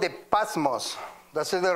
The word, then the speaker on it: Patmos: He was in a prison called the Patmos.